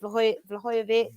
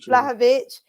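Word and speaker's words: Vlahović: Whether we get that, I can't pronounce his name. Is it Vlahovic? Vlahovic.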